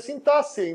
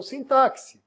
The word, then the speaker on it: sintaxe: falei pra vocês né a pronúncia sintaxe não sintáxi isso faz parte da